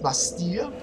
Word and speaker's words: Bastille: through um the lost bastille is how that's actually how you're supposed to pronounce it learn some french people well i guess